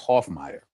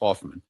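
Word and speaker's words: Hoffmeier: It's Hoffmier, right? They they all mispronounce his names. Hoffman.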